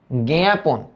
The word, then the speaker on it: জ্ঞাপন: এই ম ফলার প্রভাবে এইটা একটু নাকে উচ্চারিত হবে না তাই চন্দ্রবিন্দু জ্ঞাপন জ্ঞাপন এটা যদি আদিতে থাকে তাহলে উচ্চারণটা কিরকম হয় বলতো এই যে গে এর মত কিন্তু একটু নাকে জ্ঞাপন জ্ঞাপন এই যে দেখো